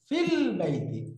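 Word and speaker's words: في البيتِ: না নোটটা জি আলহামদুলিল্লাহ দেখেন ফি আল বাইতু এখন ইকুয়াল টুল এখানে হামজাটা আছে না উচ্চারণে নাই কারণ কি এটা হলো অস্থায়ী হামজা হামজাতুল অস্থা ফিল বাইতি ফিল বাইতি ফিল বাইতি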